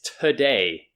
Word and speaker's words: today: been saying it correctly the word is today so not toe day or anything else but today today okay so again this first sound is tough and then the stress is on day so today are